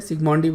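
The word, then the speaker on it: Zsigmondy: Zigmondi। Okay Z pretty much silent है, सिग्मोंडी बोल सकते हो तुम इसको, R.A.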